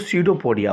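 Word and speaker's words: pseudopodia: amoeba जब चलता है इसको सीडो पोडिया बोलते हैं ठीक है ना इसमें पी साइलेंट है ठीक है इसको सीडो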